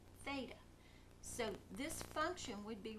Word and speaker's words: theta: We call it angle theta, and it's the Greek letter T-H-E-T-A, pronounced theta.